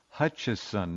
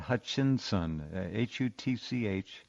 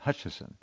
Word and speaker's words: Hutchison: It's his name is, if you want to look it up, it's Hutchison, not Hutchinson. Hutch, I-S-O-N, not I-N-S-O-N. Hutchison. And, Hutchinson. No, Hutchison. Yeah, John, anyway.